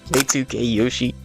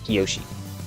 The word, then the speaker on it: Kiyoshi: Now, you could say it K2K Yoshi if you want. I personally pronounce it K2 Kiyoshi.